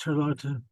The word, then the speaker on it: Charlotte: And this whole time, this girl, her name was Charlotta. It looks like it's spelled Charlotte, but it's pronounced Charlotta.